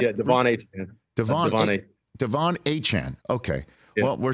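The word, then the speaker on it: Achane: night that he won it's not a chain it's Han is that is that Devin's last name is that correct yeah Devon a Chan okay well we're saying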